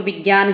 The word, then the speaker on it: विज्ञान: बोलते हैं, हम इसको विज्ञान ही पढ़ते हैं, हमें शुरू से यही सिखाया गया है। लेकिन वास्तविक उच्चारण क्या होता है? विज्ञान।